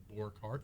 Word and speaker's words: Borghardt: Franz does have, in fact, the last name, Borkart. That's Borghardt. The D is silent.